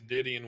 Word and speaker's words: Didion: He's Didion with an N, but yeah.